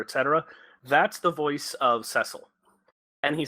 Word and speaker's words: Cecil: Cecil Harvey sessle carvings Cecil Cecil what it's actually pronounced sessle it's it's they gave